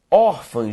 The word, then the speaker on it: órfã: de Alpha ó segundo Órfã gente é uma palavra que tem como sílaba tônica ó tudo bem e pessoal